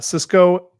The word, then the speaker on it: cisco: So Cisco, it's spelled differently than the food service.